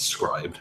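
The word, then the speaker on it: Scribd: said scribes Craig's right which by the way I've always pronounced the scripting and someone someone could someone corrected my pronunciation business it's scribed okay um find out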